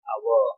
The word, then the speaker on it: hour: So that the hour, which is silent, is already correct.